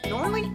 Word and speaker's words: Norlii: Norley is Scandinavian design.